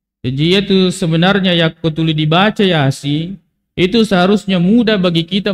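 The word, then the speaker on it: يس: Rasulullah Sallallahu Alaihi Wasallam Yasin perhatikan ini disebut dengan huruf muqatah huruf yang terputus-putus cara membacanya menyebutkan nama hurufnya ya Sin huruf ya dengan Sin Nun Q Alif Lam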